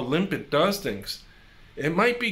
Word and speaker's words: Lympid: I think it's pronounced Lympid. It's either Lympid or Lympid. So we'll just say Lympid for now.